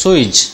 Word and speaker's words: sewage: drinkable water for themselves the real pronunciation of the word is sewage switch key facility sewage means just